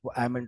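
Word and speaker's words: almond: इस तरह से ये बादाम को आलमंड नहीं बोलते आलमंड नहीं बोलते आलमंड होता है वहां पे ल ऑलवेज साइलेंट होता है ये सारे जो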